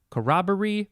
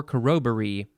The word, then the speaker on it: corroboree: bunch of them and they all had uh pronunciation and information too so it was a big section next word is karakoroburi corroboree or corroboree c-o-r-r-o-b-o-r-e-e i did i miss a letter o-r-e-e